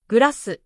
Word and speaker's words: グラス: For example, club becomes kurabu, glass becomes gurasu, train becomes torein.